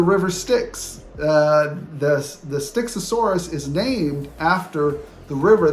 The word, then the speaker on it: Styxosaurus: finally just for fun um because I was mispronouncing them and I didn't know this so here you will see styxosaurus that's how you say it and sucus it's